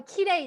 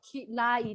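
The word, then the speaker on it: きれい: So, kirei desu. Kirei. Not kilai desu. Yeah, kilai desu. Okay. Different for the pronunciation.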